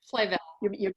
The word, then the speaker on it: Flavel: Pam, is that pronounced Flavel or Flavel? Flavel.